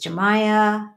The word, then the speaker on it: Jamaya: So my formal first name is Jamaya, and the J is pronounced like an H, Hamaya, because it's a Spanish name.